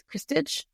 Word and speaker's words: Krstich: So it's Krstich. It's only got one vowel in it. So people don't know how to say it.